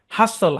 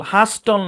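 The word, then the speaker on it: hustle: তারপরে দেখেন, শব্দের শেষে এস টি এল ই থাকলে টি সাইলেন্ট। যেমন ক্যাসল, ক্যাস্টল না, হাসল, হাস্টল না, উইসল, উইস্টল না। বুঝছেন?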